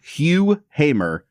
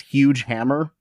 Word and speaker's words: Hugh Hamer: It's called Hugh Hamr. And I really want to mispronounce this as Huge Hammer and then just pair it with Thor.